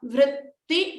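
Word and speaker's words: वृत्ति: Here, focus on the v and the rikara attached to it. Vr. So you may see that it's not going to be pronounced like ri or ru or ra. It is vr. It is a rikara, like in rishi.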